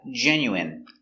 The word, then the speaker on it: genuine: good next we have genuine so remember the INE is pronounced in genuine genuine is 100% real